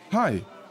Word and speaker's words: Hai: Seu nome se pronuncia igual oi em inglês. Hai, tem uma mesa para dois?